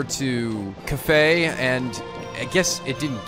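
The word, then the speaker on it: Kafei: can't pronounce it currently it's pronounced cafe like cafe so okay okay so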